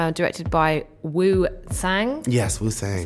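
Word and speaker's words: Wu Tsang: Yes, Wu Sang.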